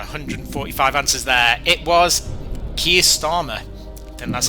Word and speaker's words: Keir Starmer: It was Keir Starmer. And that's how you pronounce his name.